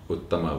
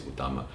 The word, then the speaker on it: Utama: That's how the Malays pronounce it. Uttama would be, Nila means blue and Uttama means topmost, but in Malay it's Utama, Sang Nila Utama.